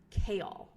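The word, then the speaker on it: Chaol: happens to be the captain of the Guard kale that's you pronounced correctly AOL kale yes Westfall and oh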